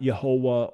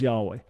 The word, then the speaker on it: Yahweh: make a nice point we have many reasons to say it was not yahuwah or jehovah many reasons to say that and the best argument is that it was yahweh there's a lengthy discussion